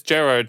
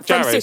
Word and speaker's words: Jared: Wade is Gerard, the actor Gerard from Supernatural, right? Yeah. Yeah. I'm not even going to correct you on the pronunciation of his name, but yeah. Jared.